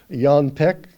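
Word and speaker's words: Jan Peeck: uh people for example like john peck that's apparently the correct pronunciation of jan peake he was one that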